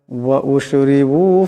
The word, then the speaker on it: وَأُشْرِبُوا: قالوا سمعنا وعصينا وأشربوا في قلوبهم العجل بكفرهم। وأشربوا, এখানে রাকে পাতলা আওয়াজে পড়তে হবে।